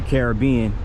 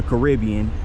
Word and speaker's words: Caribbean: a cruise ship to the Caribbean or the Caribbean, depending on who you ask as far as the pronunciation.